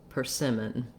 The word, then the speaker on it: persimmon: on your first syllable so trying cinnamon persimmon that gets you that uh that correct stress pattern and then our letter o says vowel schwa so it sounds like per sim with the length on the sim syllable and we have two